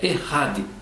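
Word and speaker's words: אחד: Essa palavra usada ali único, é, a gente escreve echade, a pronúncia é correta, é errade.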